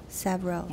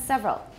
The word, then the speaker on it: several: in several languages several sabro okay first of all it's not sa and second it's only got two syllables everyone's several good several languages several